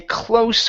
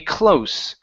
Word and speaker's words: close: word close Okay a close friend of mine instead of close with the z sound it's an unvoiced s a close a close friend of